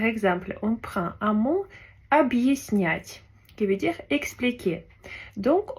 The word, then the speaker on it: объяснять: Alors que si on n'avait pas de signe dur, on aurait dit объяснять. Alors que le signe dur, il permet de faire comme une petite pause et diviser deux syllabes. Donc ça se prononce объяснять.